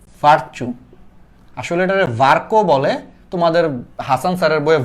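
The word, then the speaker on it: Virchow: এটা অ্যাকচুয়ালি আমরা মেডিকেলে যখন উঠছি আমি বলি লোকটার বানান হইলে যে এরকম, এই যে এইরকম, এটা আমরা উচ্চারণ করি, আসলে অ্যাকচুয়াল উচ্চারণ হলো ভার্কো।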